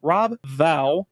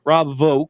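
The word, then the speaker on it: Vaux: The X is silent. Vogue is silent. Silence. It's like lasagna. You don't pronounce the J lasagna. Real G's movement silence like lasagna. Rob Vogue states that the movie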